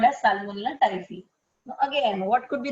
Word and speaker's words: Salmonella typhi: Although it's PHI, you pronounce it as phi, FI.